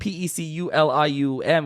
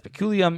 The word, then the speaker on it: peculium: He says, probably going to butcher the Latin pronunciation, but Pecululium, well, that's peculium, is means Kinyan, and